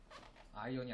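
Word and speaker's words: iron: 이때 이거 R이 무근이기 때문에 아이언이라고 읽어야 돼요. 아이언이 아언 아니에요. 아이언 아니에요.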